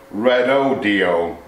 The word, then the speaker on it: Redodo: supplies lithium batteries, and the company is pronounced Redodo, apparently.